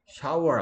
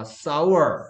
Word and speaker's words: sour: Shower 아니라니까 sour. Sour. Shower가 sh 없는데 왜 자꾸 쉬 소리를 내나?